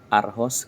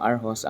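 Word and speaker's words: Aarhus: lang kayo ngang arh sa city ng aros ang spelling ng City niya ay a r h us RH pero o daw ang bigkas n dito sa kanila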